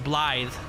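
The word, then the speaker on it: Blaidd: Well, it's spelled B-L-A-I-D-D, which is, according to Young E, it was Welsh. And apparently in Welsh, the W-D, the double D makes the sound. So it's Blythe.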